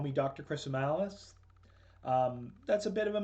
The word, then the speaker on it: Chrisomalis: Chrisomalis. That's a bit of a mouthful, but the way I tell people to remember it is that it rhymes with gristle malice, which is two things.